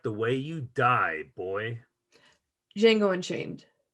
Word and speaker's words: Django: way you die boy django unchained it's jingle and change hell yeah uh our third nominated line the d is silent jingle and change it's